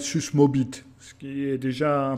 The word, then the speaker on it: Susmåbit: Euh c'est un En fin de compte, c'est parce que ce n'est pas un A, mais c'est une lettre qui doit être prononcée comme un O. Donc en fin de compte, ça devrait être susmobit, ce qui est déjà un peu moins rigolo.